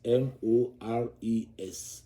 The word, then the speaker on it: mores: And here I will pause to explain that the word you see here, which is mores, is actually pronounced mores.